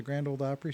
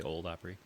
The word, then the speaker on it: Grand Ole Opry: O-L-E, not old. Okay. The Grand Ole Opry. That's a pet peeve of mine. Right, if you're going to say it right. Yeah, it's a pet peeve. Okay. I hate it when people say old Opry.